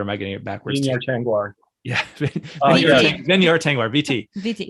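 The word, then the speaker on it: Tengwar: Tingwar.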